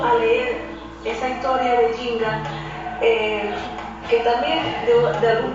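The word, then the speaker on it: Njinga: Era un pueblo dirigido por una reina, una famosa reina con cuyo nombre era Jinga. Eh, se se escribe Nj i N G A.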